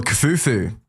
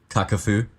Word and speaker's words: Kakafu: If you're Kafufu, Kakafu. is that how you pronounce it? Yes.